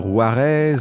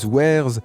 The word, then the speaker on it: Warez: Pour la prononciation, vous pouvez dire Juarez, Wares ou encore Where is, il y a énormément de débats à ce sujet. Dans cette vidéo, j'utiliserai la prononciation Juarez qui correspond à sa lecture logique en français.